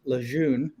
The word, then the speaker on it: Lejeune: And Beardyvlogger, to answer your question, I live in Jacksonville, North Carolina, about 6 miles from Camp Lejeune, if you're French. I pronounce it as Lejeune.